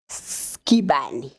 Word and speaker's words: Skibane: Here with me, it's Skibane. Am I pronouncing it correctly?